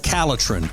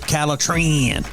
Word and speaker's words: Caletrin: you need is called caletrin or you can pronounce it calatran very easy for you to